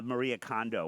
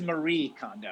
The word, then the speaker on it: Marie Kondo: to get I know Jonathan had mentioned the Maria condo one let's do that uh um it's it's a Marie condo yeah it's really hard to hear it I